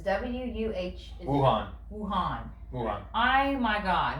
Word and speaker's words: Wuhan: How do you pronounce it? It's W-U-H... Wuhan.